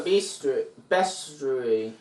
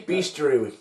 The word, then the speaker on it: bestiary: Would they have a bestiary? Say bestiary, it's better. No, it's best. It's bestiary. It's bestiary. It's a book of beasts.